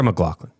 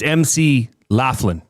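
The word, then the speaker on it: McLaughlin: Um like Sarah McGlaughlin. No, it's not. It's MC Laughlin.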